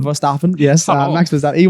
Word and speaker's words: Verstappen: I believe it's pronounced Verstappen. Verstappen, yes.